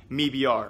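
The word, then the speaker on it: MIBR: both organizations and clean the owner of me BR he pronounces it me BR although if you don't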